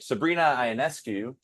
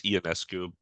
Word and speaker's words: Ionescu: And then Sabrina Ionescu, right? Say it right? I want to say it's Ionescu.